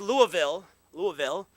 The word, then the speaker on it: Louisville: Bill was born in Louisville, Kentucky, pronounced Louisville, by him and by his many siblings.